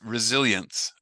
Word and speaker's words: resilience: r close it's it's resilience so it's that has that z sound that Jose me mentioned in blizzard that blizzard and res resilience so resilience climate resilience yeah climate resilience yeah